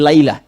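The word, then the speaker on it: ليلة: Kalau Anda temukan di Al-Quran, setelah kata lail, di ujung lamnya ada ta'nya. Sehingga hurufnya merubah cara bacanya menjadi lailah. Bukan lail tapi apa? Lailah.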